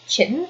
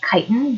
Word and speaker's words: chitin: keratin keratin or chin it's actually not actually pronounced chitten it's pronounced chitin but for the last two years while i've